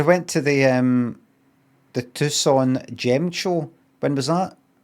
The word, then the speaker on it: Tucson: Tucon it's not it's not Toxin Tucson. Is it Tucson?